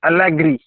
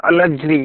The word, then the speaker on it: Alegre: Okay, Alegre or Alegre, you can pronounce according to your easiness.